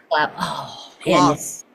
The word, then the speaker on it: Gloucester: glow glister gler GL gloss gloss like glossy lips rhymes with Foster yes oh my gosh